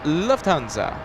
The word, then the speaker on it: Lufthansa: thank you so much Luft in German means air hanza in German means Guild so it's pronounced Lufthansa I hope I'm PR